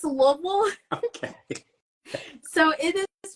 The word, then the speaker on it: Louisville: Louisville or Louisville oh yeah so it's it's Lille okay so it is pronounced if you're from here a lot of people from here pronounce it louville and if you're not from here then you